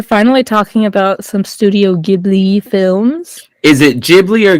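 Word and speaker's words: Ghibli: just Google it no if you Google it and like you click on the little play button of like pronouncing it says gibli so I'm gonna have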